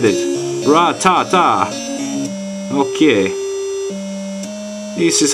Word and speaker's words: Rattata: Ratata. Okay, this is how you pronounce and then you answer your own questions.